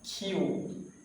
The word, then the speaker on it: Q: কিউ বলতাম, কিন্তু কিউ না, খিউ, খিউ।